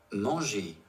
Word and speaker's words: manger: The verb endings GER and CER have a soft G and a soft C sound, respectively, because the letters G and C are directly followed by the vowel E.